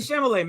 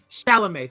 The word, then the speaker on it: Chalamet: It's Timothy Chalamet, man. Chalamet, thank you. Flipping the syllables in my mouth.